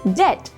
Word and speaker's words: debt: is coco number three debt no it is debt number four receipt no my dear students it